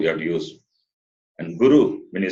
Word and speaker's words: guru: The next one, ra, ra, ri, ri, ru, ru, rupam, that long ru you have to use. And guru, when you say guru, the short ru.